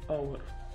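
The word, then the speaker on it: hour: डब्ल ए काय आहे त्यानंतर वर्ड आहे आवर काय आवर काय तर आवर आवर म्हणजेच तास इथे एच कशी आहे तर सायलेंट आहे एच कशी आहे तर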